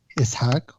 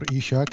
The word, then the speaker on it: Ishak: As you said, my name is Waguih Ishak or Ishaq. I'm used to different pronunciations.